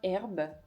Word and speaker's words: iHerb: J'ai eu les retours de iHerb, c'est comme ça qu'on prononce, pour une vidéo UGC.